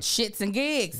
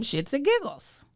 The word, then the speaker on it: ShxtsnGigs: before Diddy uh that shits and gigs that MGS listen I sure I still be saying their name wrong I was calling them shits and giggles you just said they're fool